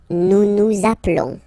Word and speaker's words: appelons: Nous appelons, nous appelons, okay, final S doesn't exist.